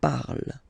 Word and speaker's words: parle: ending e, and then the way to pronounce it is je parle. Parle. So remember, we put it, okay, but then we don't really pronounce it.